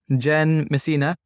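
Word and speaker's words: Jenn Messina: and today's episode I have a special guest Jen Messina and if did I pronounce it right you got it yeah oh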